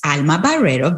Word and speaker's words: Alma Barrero: So my name is Alma Barrero, very well pronounced, Patty.